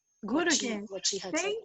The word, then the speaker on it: Guruge: The pronunciation of Ananda Guruge was correct. Guruge.